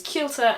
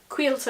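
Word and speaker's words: Caoilte: See also the names Kielta and Kiva, or Quilter and Quiver depending on where you're from.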